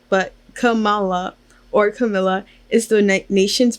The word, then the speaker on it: Kamala: constantly introduce herself with the emphasis on the second A in her name. There's a population of people who think Kamala or Camilla, wait, I said that wrong, but Kamala or Camilla is the